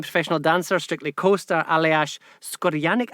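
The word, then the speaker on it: Škorjanec: Janette, you mentioned your wonderful husband, the Slovenian professional dancer, Strictly co-star Aljaž Skorjanic. Am I pronouncing that correctly? Skorjanic is the top one.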